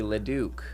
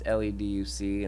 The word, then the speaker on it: Leduc: And people mispronounce the Leduc a lot of times. It's Leduc, and they don't know how to pronounce it and stuff.